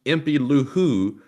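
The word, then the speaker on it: impylou: in the super chat itself who says it's pronounced empty luhu i've been here since day two f the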